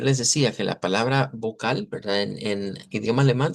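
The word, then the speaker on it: Vokal: Vamos a decir vocal. Vocal con una a más larga. Y el énfasis es en la K. Ve ahí es la fuerza de voz.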